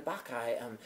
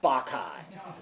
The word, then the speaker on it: Bacchae: I said, hi, I hear you're doing the Bacchae. I'd really love to audition for you. And she said, but I pronounced it the Bacchae. And she said, it's pronounced the Bacchae.